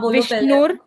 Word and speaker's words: विष्णु: ना विष्णु विष्णु विष्णु तो ये जो ऊपर जो आधा चंद्रमा है उसको आपने र की तरह विष्णुर करके पहले ही पढ़ लिया विष्णुर नहीं विष्णुर ण के साथ ओ की मात्रा मात्रा लगी है यहां पर विष्णु विष्णु